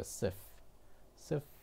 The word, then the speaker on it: see if: see와 if라고 발음하지 않기 때문에 발음할 때 어떻게 합니까? sif money 그냥 f만 약간 들릴 뿐이지 if라고는 얘기 안 합니다.